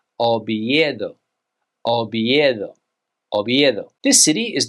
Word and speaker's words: Oviedo: This city is not Oviedo. In Spanish, you would say Oviedo.